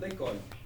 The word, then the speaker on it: l'école: Oui, make it one sound. L'école.